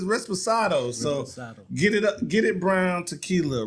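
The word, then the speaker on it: Reposado: Respirado. I don't think it's Respirado. It's not? Resposado. Respirado.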